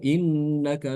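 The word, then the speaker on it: إِنَّكَ: untuk bacaan Ibnu Katsir dia membuang Hamzah yang pertama jadi bacanya nanti qolu innaka laanta Yusuf ya qolu inakaanta Yusuf seperti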